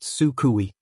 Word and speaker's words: Suku: I have decided to call her Suku, pronounced sukui.